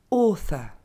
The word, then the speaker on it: author: Le TH, qu'il faudra du coup pas prononcer T, et notre terminaison. Donc ça nous donne author. Encore une fois, author.